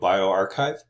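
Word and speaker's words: bioRxiv: send their manuscripts to bioarchive and evo archive that's how you pronounce those sorts of things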